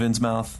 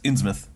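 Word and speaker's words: Innsmouth: on our pronunciation of in mouth we keep saying in mouth in mouth it's insouth insouth I think it's yeah Shadow over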